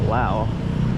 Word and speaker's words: Lao: here and uh yeah first time here in Lao guys so I'm excited to explore give you my first impressions of Lao and I am pronouncing it correctly right it is Lao not La so the English translation would be